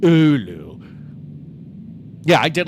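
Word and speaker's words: Oulu: But um I think I liked I I actually think I liked Roa more than I liked Olu. Ulu.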